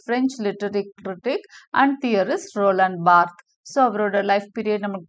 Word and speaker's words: Roland Barthes: kind requests thank you spelling but it is pronounced as Roland Barth Rollin Bart of the pronouncement he was born on 12th